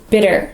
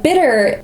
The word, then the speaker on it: bitter: and dark chocolate is bitter and bitter is a flap tea there are two tees together and most Americans will say bitter bit we don't really say bitter unless we want to